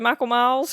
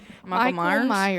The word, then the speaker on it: Michael Myers: I said Michael Miles because I couldn't- Marker. Hello. You say it right. Michael Myers.